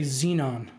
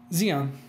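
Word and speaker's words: Xeon: seems the audience has an issue with your pronunciation of zeon you say xenon look I okay how is it pronounced Xion Xion yeah how it down okay he Jian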